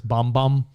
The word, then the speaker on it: Bam Bam: and camila cabello bom it's spelt bam bam but it's bom bom yo i feel like